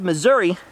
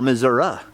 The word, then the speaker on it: Missouri: a few days unfortunately all of Missouri and/or Missouri as its properly pronounced by the natives all this entire area